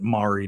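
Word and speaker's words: Mowery: y, and then eventually they still pronounce it Mauri down in Kentucky, but it's spelled m o w e r y.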